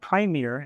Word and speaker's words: Premier: do the Dolby Atmos B's pronounced primier and mispronouncing it for years so yeah primier and